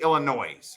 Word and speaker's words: Illinois: illinois right now illinois do you pronounce it illinois or illinois it's going to be illinois right like noise illinois yeah mr thomas